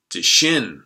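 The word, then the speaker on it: Dschinn: Second, or a German hard rock band called Die Shin with a 1972 self-titled album. So that's spelled D-S-C-H-I-N-N.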